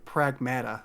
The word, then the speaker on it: Pragmata: I I think very very early in the game they say the word pragmata like as they refer to it as pragmata.